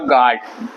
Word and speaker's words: guard: और गार्ड, GARD गार्ड, GAU, तो GUARD गार्ड की सही स्पेलिंग है, ये याद रखिएगा आपको।